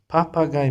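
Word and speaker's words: Papagei: When you face IE, you have to pronounce I like this GIE, guy, papa, guy, P, papa, guy. Papagay means parrot.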